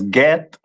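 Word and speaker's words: גד: Uh which is pronounced in the Hebrew as get and the meaning of it is troop.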